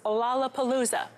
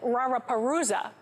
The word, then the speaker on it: Lollapalooza: The word was Lollapalooza. The Japanese couldn't pronounce the L sound and said Raraparuza, so they weren't able to scam false information to the Americans.